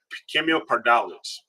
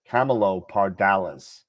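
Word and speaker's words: Camelopardalis: October uh Cameo paral Cameo parales oh we're told in the chat the actual pronunciation of it is Camelo Camelo parales Camelo Paralis all right thank you thank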